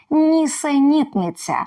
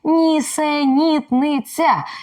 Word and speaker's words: нісенітниця: росіянці не можуть вимовити нісенітниця Воно насправді складніше за паляницю полуницю і решту українських слів а чому Тому що тут м'який звук ц а ще тут чергування твердих і м'яких голосних звуків нісенітниця чи ви вимовляєте це